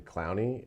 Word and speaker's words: Clowney: And I think like when we look at adding someone like Javian Clowney, I think is how is that his proper pronunciation?